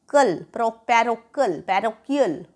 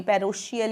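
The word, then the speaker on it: parochial: अब ये वर्ड है हमारा पैरोकियल, पैरोकियल, कियल, क है इसमें, च नहीं है, ये पैरोशियल या पैरोचियल नहीं है, ये पैरोकियल है।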